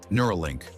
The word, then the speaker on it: Neuralink: say it nura nura inspired by neural as in brain power link Simple and